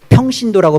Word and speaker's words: 평신도: 일반 성도 뭐라고 부르죠 일반 성도를 발음 잘 하셔야 돼요 이게 평신도라고 발음을 잘 하셔야 돼요 비읍으로 나가면 안 되죠 스스로가 그렇게 만들어 버리는게로만